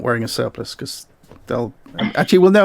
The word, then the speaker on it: surplice: It's spelled surplice, as in lice. No, as in ice.